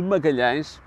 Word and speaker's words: Magalhães: Pela dificuldade de dizer as vogais nasaladas e fechadas, Fernão de Magalhães, o que para nós